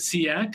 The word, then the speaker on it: CEAC: Uh we pronounce it seak uh C A for reference.